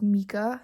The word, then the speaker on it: Mika: It's Mika, not Micah, so apologies for that,